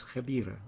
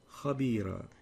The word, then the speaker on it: خبيرة: You've pronounced that as خبيرة. What the right way of pronouncing it is خبيرة.